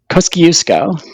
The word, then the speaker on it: Kosciuszko: up to the top in Australia to Mount Kosciuszko. Kuko. Did I pronounce that right? Kosciuszko.